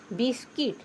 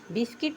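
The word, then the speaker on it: biscuit: आगे है बी आई एस सी यू आई टी बिस्किट। बिस्किट means बिस्कुट। यू का उच्चारण इसमें नहीं हुआ है। बिस्कुट नहीं पढ़ेंगे। बिस्किट पढ़ेंगे।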